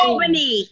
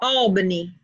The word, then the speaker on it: Albany: Albany. You said it wrong. It's Albany.